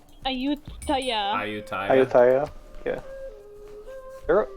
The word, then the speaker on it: Ayutthaya: pronounce Ayutthaya? Ayutthaya.